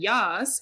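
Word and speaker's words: Jas: Yas media pod and Yas is spelled j as in Justine and Sarah uh our website is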